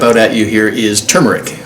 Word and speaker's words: turmeric: One of the other ingredients that's going to jump out at you here is turmeric, which some people pronounce turmeric. It can be done both ways.